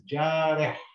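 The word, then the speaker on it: جارح: And the last letter here is got a Ha with no sign, which means it is silent. So we read this as jareh.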